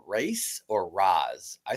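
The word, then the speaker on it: Ra's: Race or Raz? I say re. It's supposed to be pronounced re.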